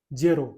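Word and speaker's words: zero: इसी प्रकार से लिखा जाता है, आप लोगों ने इंग्लिश में देखा होगा, लेकिन इटली में उच्चारण अलग होता है, जेरो।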